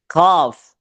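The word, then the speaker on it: ق: Ya, jadi kur tebal, qaf, hadzal qaf, Jadi agak di tengah. Qaf. Kalau bahasa Perancisnya kapu.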